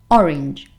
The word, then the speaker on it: orange: So you would say something like orange, orange, orange, or orange, perhaps.